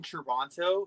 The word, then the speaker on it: Toronto: See, and I corrected myself on the second time because I'm not allowed to pronounce the second T as a Canadian. So I'm sorry to everybody that got Toronto. offended for that first hard T.